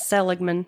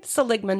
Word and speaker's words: Seligman: Now, I was calling that Seligman, but uh got corrected on that while I was out in Arizona. I had to ask how do you say that again? Seligman, Arizona.